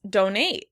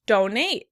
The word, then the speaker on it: donate: In British English, the word would be pronounced donate. Donate. In American English, we pronounce the word donate. Donate. In this case, the stress is on the first syllable.